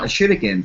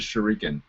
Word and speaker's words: shuriken: Okay, I always pronounced it as shuriken. Yeah, it's probably that's the American. Yeah, that's the American. It's like shuriken. Okay, so there's more emphasis up front.